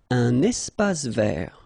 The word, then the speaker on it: espace vert: Un espace vert. First thing, you get this little link between the two. Un espace vert. Final E not pronounced, and then final T not pronounced.